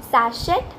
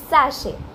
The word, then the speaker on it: sachet: Sachet. Nope, it's sachet.